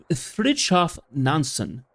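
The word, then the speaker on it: Fridtjof Nansen: Nancy Vision's name for uh Franchov Nansen. Fransen uh Froff Nansen. That's how it's pronounced.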